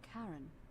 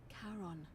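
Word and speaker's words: Charon: it's just as you described it only your pronunciation is a little off the name you heard wasn't Karen it was c h a r o n as in Caron the ferryman of the day oh my God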